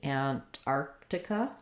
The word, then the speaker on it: Antarctica: What we want is, we do want the T, Antarctica. It's going to be light again on this T because this first syllable, ant, is unstressed, Antarctica. So we might use a bit of a stopped T there, ant. So I'm not leaving it off.